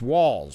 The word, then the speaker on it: Walz: let's see oh I I pronounced walls yeah has anybody had that question I didn't I don't that's what El Franken said it's walls pronounce walls a great choice with